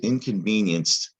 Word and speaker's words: inconvenienced: is tricky because well there's that y sound in the middle but it also sounds like the last syllable is yinst inconvenienced when you might be tempted to spell it this way y-i-n-s-t inconvenienced or against it's not inst it's not a y we talked about that the i is making a y part you remember that